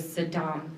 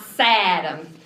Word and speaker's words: Saddam: go get that man named Saddam Hussein. Not Saddam. At least the younger President Bush was able to pronounce his name correctly, which was a surprise since, he always warned us about nuclear weapons.